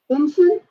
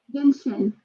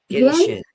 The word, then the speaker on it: Genshin: How do you say that name? Genshin? Yeah. Genshi? Is that how you say it? Genshin. Genshin. Yeah.